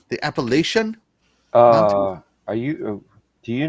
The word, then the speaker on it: Appalachian: from the north and most of us from the north mispronounce it up north we say appalation which is very incorrect no actually it's uh